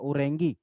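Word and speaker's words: Orange: हालांकि ये spelling ऑरेंज की जैसी है, पर इसको प्रोनाउंस किया जाता है ओरेंगी।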